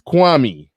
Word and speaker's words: Kwame: But no, it's Kwame.